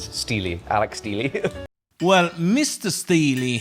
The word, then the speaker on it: Steele: none other than Alec Steel. Actually, everybody's been pronouncing it wrong all these years. It is Steely, Alec Steely.